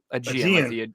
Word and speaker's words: Aegean: Aegean, like the Aegean Sea.